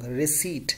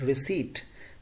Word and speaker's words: receipt: determined determined right receipt some people some people pronounce P as well but there is wrong receipt not received this is receipt Drosophila receipt received Meghan I received the beer